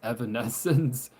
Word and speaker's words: Evanescence: Evanescence.